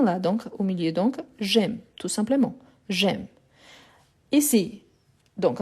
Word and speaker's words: j'aime: ici j'ai j'aime ah est très important aussi par rapport à la prononciation c'est pas jeaime non j'aime imagine imaginez-vous qu'il y